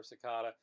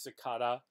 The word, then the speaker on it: cicada: how i pronounce zakata so i'll say cicada or sakada uh the correct way as far as i'm concerned is cicada because that's how william t davis said it it's probably how they